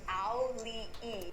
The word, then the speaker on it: Auli'i: So it's Auli'i.